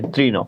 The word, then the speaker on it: তৃণ: তাহলে ত recur, recur আছে, মূর্ধন্য থাকলে দন্ত ন হয়ে যাবে। শেষ বর্ণে অ উচ্চারণ হচ্ছে, ওই জন্য অ উচ্চারণ হলে কি করতে হয় আমরা জানি, ওকার করে দিতে হয়, তৃণ।